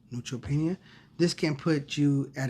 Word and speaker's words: neutropenia: How do you say that? Neutropenia? Mm-hmm. Neutropenia.